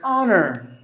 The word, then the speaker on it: honor: The letter H silent, the letter R silent, N. There are only two syllables. I think I have, okay, yeah, I have given the classification of the syllables. Here, there are only N, two syllables. You have to give the stress for the first syllable, N, honor.